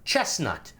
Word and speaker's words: chestnut: Chestnut. Remember, there's a T, there's a T in the middle of chestnut. Apparently not pronouncing T's is a Californian thing.